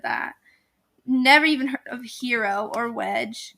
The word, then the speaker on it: gyro: never even heard of hero or wedge it's us spelled g y r o gyro it's actually hero it's actually yo um